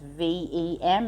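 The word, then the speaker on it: vam: It's V-A-M, but pronounced V-E-M.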